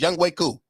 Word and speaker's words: Younghoe Koo: It's spelled like Young Ho, but it's Younghoe Koo.